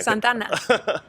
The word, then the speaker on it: Santa Ana: Okay, so then the way you pronounce Santa Ana, I thought you couldn't speak Spanish at all. Really? You know? Yeah. Santana.